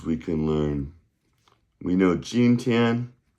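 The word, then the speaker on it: jīntiān: can learn we know ginan right that's today. How do you say tomorrow friendly friends and then yesterday is So gin j i n t i a n first tone first tone m i n g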